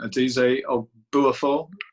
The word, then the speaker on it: Adize Obuafo: Next up, we have, please pardon my pronunciation, Adize Obuafo. Is that all right, Adize? Yes, that's right.